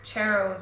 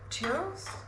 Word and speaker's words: churros: It's kind of reminding me of um like cherros or something. Churros. Cherros. Why do I say cheros? Man, I can't even pronounce stuff right.